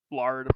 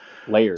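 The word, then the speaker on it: Laird: So, it was based on the comic book characters from Kevin Eastman and the Peter uh Lard. I don't I don't know how to pronounce it. Layered.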